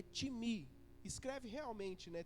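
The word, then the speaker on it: τιμή: vem do grego que que se escreve time né mas a pronúncia é Tim me escreve realmente né t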